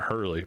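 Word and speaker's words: Herlihy: Yeah, I guess you pronounce that Hurley, but it's not. It's H E R L I H Y, but yeah, I think that would be Hurley.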